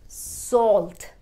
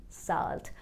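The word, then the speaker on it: salt: We will break s a l and pronunce it as sawlt not saalt Please pass me the sawlt Pass me the sawlt and not saalt It will take me an hour.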